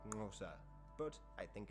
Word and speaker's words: Xhosa: Hence Xhosa is usually pronounced something like Ngosa.